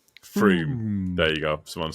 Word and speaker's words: Frome: I know, but I have watched a Map Men thing on it, and they show you how you're supposed to pronounce it. Froome. Froome.